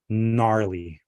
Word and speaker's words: gnarly: You don't you don't say gna or gnat. you say no, Nat, gnarly or nash.